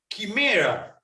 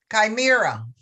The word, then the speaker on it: chimera: Chimera. Thank you. Thank you, Madame Grammarian. We have the same word in Italian, spells the same way, but we pronounce chimera, but it spells exactly the same.